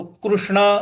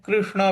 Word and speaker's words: कृष्ण: मनख कृष्णा कृष्णा देखिए जो क के नीचे ऋ है इसको ऋ बोलते हैं रू भी बोलते हैं तो कृष्ण भी बोल सकते हैं कृष्ण भी बोल सकते हैं ये अलग-अलग जगह पर अलग-अलग भाषाओं के साथ में उच्चारण का भेद हो जाता है तो कृष्ण भी बोला जा सकता है और कृष्ण भी बोला जा सकता है गलत दोनों ही नहीं है दोनों ही सही है तो चंचलम ही मन